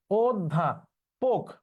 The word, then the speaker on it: অধ্যাপক: অধ্যা, অধ্যা পোক, আমরা জানি অধ্যাপক। এখন প ক এটার উচ্চারণ তো পক, কিন্তু এটা উচ্চারণ পোক হবে, কারণ হচ্ছে শব্দের শেষে